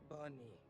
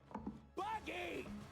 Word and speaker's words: Buggy: Bunny. Bunny. You got the name wrong. It's Buggy.